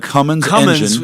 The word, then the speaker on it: Cummins: let's make sure we say it correctly the cumine in the truck but it's part of ram